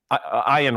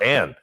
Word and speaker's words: Ayn: the book The Fountainhead iron Rand iron Rand yeah Ayn in sometimes mispronounced Ann Ayan Rand uh wrote